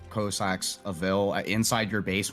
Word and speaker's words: Cossack: One thing that we need to establish, Mahonga, is we need to get you saying Cossack correctly. Is it? I say Cossack. Yes. Yes. And it sounds like ballsack.